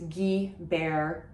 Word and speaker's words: Guibert: And the GU that I mentioned, it's not Guibert, it's not Guibert, it is Guibert if you're speaking with an English accent, because that GU just makes it a hard G sound.